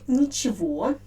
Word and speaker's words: ничего: and only one it's meaning so the word nichivo as i already told you the main uh